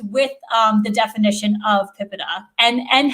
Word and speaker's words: PIPEDA: there are people who say pipa and pipetta um and various other alternatives um even within the office of the privacy commissioner that enforces the law i think we hear more than one peninsula pronunciation so i've settled on pipita but i don't need